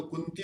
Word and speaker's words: कुंती: उच्चारण स्पष्ट होना चाहिए, नहीं तो कुंती और कुत्ती, देखो उच्चारण का कितना महत्व है। कुंती और कुत्ती, एक आधा ना आपने उच्चारण कर दिया तो कुंती कहाँ, एक नाम है किसी माता का, बहन का, और ना थोड़ा सा गड़बड़ कर दिया, उतना डबल कर दिया तो वो क्या हो जाएगा, कुत्ती हो जाएगा।